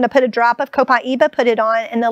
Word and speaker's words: copaiba: So this is an oil called copaiba. Copaiba, this is of course... Copaiba. Copaiba. How do you spell that?